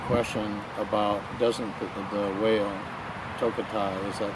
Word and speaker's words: Tokitae: One of the children in one of the presentations asked the question about, doesn't the whale, Tokitae, is that how you pronounce the name? Yes. Tokitae, doesn't the killer whale belong to those people now as property?